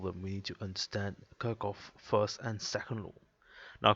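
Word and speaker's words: Kirchhoff: we need to understand kirkoff first and second law now quicker first of all if we just do a quick recap so karakov of kahf depending how you want to pronounce it uh the first law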